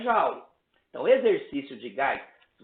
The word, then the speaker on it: joule: Tu vai achar o trabalho em joule, ou joule, né? Como se diz, né? Uma pronúncia mais francesa.